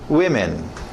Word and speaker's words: women: Lembra, esses morfemas substituíveis não precisam necessariamente seguir a escrita. Então, no plural, nós substituímos dois sons. O ma, o o e o a são substituídos por e. E fica we, me. Women.